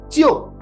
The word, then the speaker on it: 就: But we also have a pronunciation here, jiu. Now, the two elements of this pinyin pronunciation are Ji and OU. Now, you'll notice that in pinyin, they don't spell out the O there, but this is pronounced jiu, right?